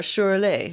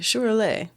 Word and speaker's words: Şüräle: Or a Şüräle. Şüräle. Sorry, I'm pronouncing it correctly in the Russian accent. Şüräle. Mm-hmm. Or it sounds more like Şüräle.